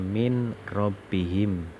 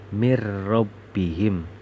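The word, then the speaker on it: مِنْ رَبِّهِمْ: itu namanya idgham billaghunnah Ini kata kalau kita lihat tulisannya adalah tulisannya mint robbihim akan tetapi di sini bacanya harus mirrobbihim seakan-akan kita membaca tasjid Hai jadi nun sukun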